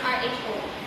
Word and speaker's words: rho: The Sperman rank order correlation is denoted by R sub S, or the Greek letter P pronounced RHO.